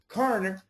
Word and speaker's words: carer: okay in the middle there should be a syllable carer carer but I do agree it